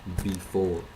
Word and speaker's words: before: that is the preposition before. Before. So again, we're making that round R sound, and it's the second syllable that will have the emphasis.